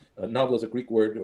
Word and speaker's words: nabla: So this mathematical symbol, the symbol itself is pronounced nabla. Nabla is a Greek word, or an ancient Greek word, I think, for harp.